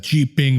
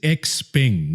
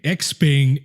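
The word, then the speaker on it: XPeng: away all right so the pronunciation is x-ping not g-ping x-ping and neo you see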